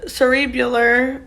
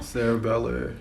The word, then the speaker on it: cerebellar: out uh perishal and cerebular am i saying these right wow cerebellar oh sarah beller bulging okay what's the other